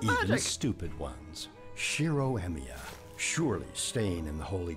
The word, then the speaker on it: Emiya: Shiro Emiya. No way. What? And it just changed. Yeah? Could you spell that?